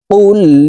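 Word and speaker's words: قُلْ: শুদ্ধ উচ্চারণ হয়ে যাবে কুল ইয়া আইয়ুহাল এখানে দেখুন আমরা অনেকেই কুল ইয়া কুল ইয়া এভাবে পড়ে থাকি কফের উচ্চারণ জিহ্বার গোড়া তার বরাবর উপরের তালুর সঙ্গে লাগাইয়া উচ্চারণ করে পড়তে হবে কফ লাম পেশ কুল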